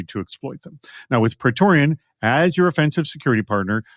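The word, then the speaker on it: Praetorian: pretorian by the way let me spell petoran for you and I'll spell it again at the end p r a e t o r i an that's petoran so petoran helps security teams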